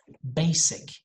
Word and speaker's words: basic: pet tear next house basic now in these words we don't have a z sound we have a s sound so when you go